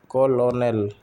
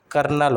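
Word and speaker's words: colonel: Foreign for foreign foreign कोलोनल कर्नल होता है कर्नल सी ओ एल ओ एन ए एल कर्नल और यट होता vote Y ए सी एच टी यट होता है।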